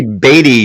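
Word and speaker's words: Beatty: an actor named Robert batty baby Robert space baby Bobby baby actually actually batty spelled like Warren batty and this guy had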